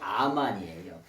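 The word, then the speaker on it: אמן: 말이냐면 아멘하고 아멘하고 비슷하죠 아멘의 원래 발음이 아만이에요 그런데이 암환이라고 하는 말은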